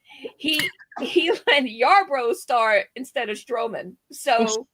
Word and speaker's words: Yarbrough: He let Yarbrough start instead of Stroman.